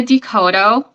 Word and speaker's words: Coteau: social media okay well my name is Coto I'm the owner yeah tooto yeah a lot of people pronounce it wrong so it's okay right but